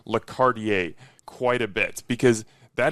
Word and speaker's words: Quartier: I've been calling it Lordier. It's Lardier and that means something about the neighborhood.